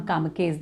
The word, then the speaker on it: Kamikaze: के ए जेड ई लेकिन यह एक जापानी शब्द है जापानीज ओरिजिन है इसका और इसका मतलब और इसको प्र किया जाता इसका उच्चारण है कामकाजी तो इसका जो अर्थ